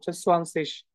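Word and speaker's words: zwanzig: আচ্ছা, দেখেন, আইজি যদি থাকে নর্মালি সেটা আমরা তালের রসের মতো উচ্চারণ করি। এগুলা অনেক আপার লেভেলের কথাবার্তা, জাস্ট এতটুকুই মনে রাখেন, এটা তালের রসের মতো উচ্চারণটা সোয়ানসিস।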